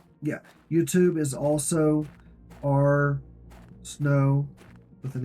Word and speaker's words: Snowe: YouTube is also our snow with an e at the end the E is silent I just say ars